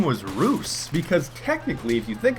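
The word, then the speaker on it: Roose: think his name was Roos, because technically, if you think about it, if Moose is spelled M-O-O-S-E and his name is spelled R-O-O-S-E, that would logically make his name Roos.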